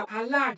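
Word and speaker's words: עָלָה: Y en el idioma original hebreo se pronuncia alá, que significa alzar, levantar y sacar.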